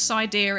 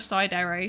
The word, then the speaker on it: Psydere: People always pronounce my name as Sidear instead of Sidere.